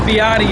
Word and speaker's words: BYD: referred to as byd it's actually pronounced Botti in China uh just released two